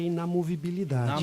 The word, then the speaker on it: inamovibilidade: me ajude a pronunciar corretamente. Não é inviolabilidade, mas é inomovibilidade de quem? Do promotor e do juiz. Sim, Nós temos 3 garantias constitucionais, que uma é inamovibilidade.